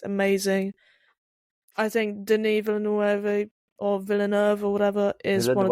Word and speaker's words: Villeneuve: I think Denis Villeneuve or whatever is one of the best directors. Oh, okay, shut up. That's how Americans say it. Villeneuve.